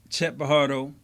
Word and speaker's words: Pajardo: But Chet Pajardo, the J is silent hillbilly.